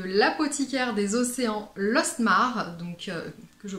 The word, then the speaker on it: Lostmarc'h: la marque de la côte iker des océans lostmarc'h donc que je prononce correctement cette fois ci qui m'avait enchanté